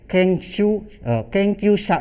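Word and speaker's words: 研究者: Contohnya Asep sang wa kenkyusha desu. Kenkyusha itu peneliti seperti itu. Kalau bisa juga kenkyu mono juga bisa kalau kanjinya pakai mono, tapi kanji ini dibacanya sha. Jadi kenkyusha artinya peneliti.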